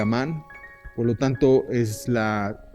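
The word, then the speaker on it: Ammán: Amón, que es como ahora se pronuncia Amán, por lo tanto es la capital de Jordania.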